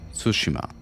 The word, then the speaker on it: Tsushima: Tsushima.